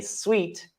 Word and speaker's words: suite: one bed and a suite this this word is pronounced sweet like um like like candy is sweet this is this is called a sweet it doesn't look like